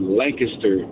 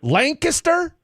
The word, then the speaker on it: Lancaster: Lancaster? Lancaster. And why is it pronounced that way, sir? No, not Lancaster. Lancaster. And everybody south of the Trinity says Lancaster.